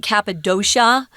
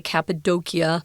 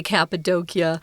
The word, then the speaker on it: Cappadocia: at least i'm not sure about the brits pronounce it cappadocia which is probably a more of american pronunciation